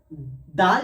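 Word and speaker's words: دال: দাল সায়ের মতনই হয়, জিভের আগা এবং সামনের উপরের দুই দাঁতের আগার সাথে লেগে উচ্চারণ হবে।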